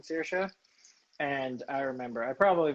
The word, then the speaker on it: Saoirse: I was just like really taken aback, and then I was like, after she's like, it's Saoirse, and I was like, okay, I'm sorry for making it a big thing, but I'd never seen a name like that before.